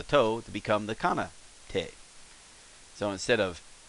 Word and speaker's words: て: This is te as in tape or taint.